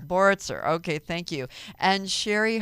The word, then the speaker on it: Boritzer: give it to me it's board sir board sir okay thank you and